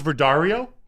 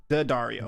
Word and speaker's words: Daddario: How do you pronounce her name? Alex Daddario. Alex Verdario? Daddario.